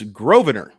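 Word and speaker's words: Grosvenor: I don't recall it's grovener Lucan grobaner Baker and that's spelled g-r-o-s-v-e-n-o-r the S is silent uh there's some family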